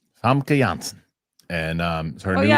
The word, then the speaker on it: Janssen: And they they don't pronounce their J's either? Janssen. Famke Janssen.